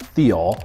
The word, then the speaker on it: thiol: it looks like they're all but it's actually pronounced Theo and what it is is it's a a